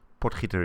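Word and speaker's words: Potgieter: So we or it is pronounced potter potguider or potter. Potiter is more sort of kind of real authentic.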